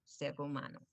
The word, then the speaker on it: human: And remember, of course, in English, we pronounce the H sound. You have to breathe out human being.